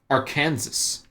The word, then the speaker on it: Arkansas: Arkansas. Why is this one pronounced Kansas, but this one is not pronounced Arkansas?